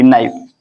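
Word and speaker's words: knife: देखते हैं तो के एन आई एफ ई नाइफ इसमें ए फॉलो कर रहा है इसको फॉलो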